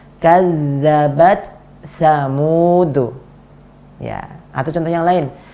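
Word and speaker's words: كذبت ثمود: Jadi kita bacanya seperti ini, kazzabat samud. Mana angin dari huruf ta? Nggak ada. Kenapa nggak ada? Karena gabung ke huruf sa. Ini tidak benar. Yang benar adalah kazzabat samud.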